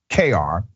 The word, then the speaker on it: Cuellar: The officer raised the suspicions of an FBI agent who was also at the crime scene where baby Brandon, is pronounced KR, was kidnapped from his grandmother's apartment in San Jose on April 25th.